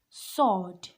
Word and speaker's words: sword: again a silent letter the W is silent here seem like the L in the talk this is sword sword this is not